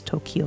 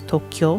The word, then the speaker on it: Tokyo: have the toe and instead of pronouncing as kio Tokyo, although more often than not, you probably hear it pronounced as Tokyo anyway, but it's actually supposed to pronounce Tokyo. So it's like two syllables there instead of instead of uh three.